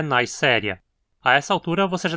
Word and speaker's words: Neisseria: Dizemos Neisseria e não Neisseria, porque novamente é uma palavra derivada de um nome próprio, aqui do bacteriologista alemão Albert Neisser.